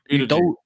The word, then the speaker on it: Udogie: Udogie.